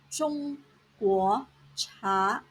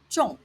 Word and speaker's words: 中: Here are some examples of Chinese words using 中中药 Chinese medicine, 中国茶 Chinese tea, 打中 to hit a target. The Chinese character 中 has two pronunciations. First tone 中 and fourth tone 重.